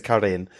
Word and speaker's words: Karin: She's not a Karen, no, she's a Karin.